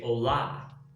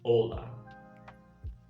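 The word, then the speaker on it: Olá: hola a little different in portuguese and other romance languages it's really important to put the emphasis on the right syllable so we say ola not ola hola and now to ask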